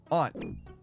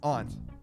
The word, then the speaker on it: aunt: Aunt. Yeah, that's aunt, not aunt. Well, it depends, actually. I say it both ways depending on the context of the sentence.